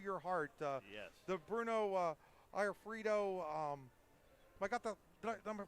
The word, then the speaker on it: Iorfido: The Bruno Iafrito. Am I pronouncing Bruno's last name correct? Yes, Bruno Iafrito Wrestling Camp.